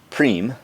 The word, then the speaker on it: prime: prime P R I and II but it's pronounced cream at least as I know it so what